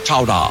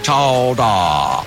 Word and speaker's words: chowder: Pronounced regionally as chowda, chowda.